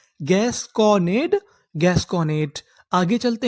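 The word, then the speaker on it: gasconade: डी ई, डा, क्योंकि ई का उच्चारण हमें करना नहीं। तो हमारी पूरी मीनिंग क्या बनी, gas Conan, gas Conan, gas Conan.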